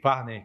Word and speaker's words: Farnei: Primeiro eu queria te perguntar a pronúncia. É Farney ou Farney? Farney.